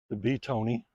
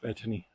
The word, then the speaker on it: Betony: The Beetony, it's it's spelled Betony, so I call it Beetony. I think it's actually pronounced Bethany, but I call it Beetony.